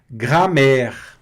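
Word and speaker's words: grammaire: Gramer. Gramer. Aqui o a + i tem o som de e, né?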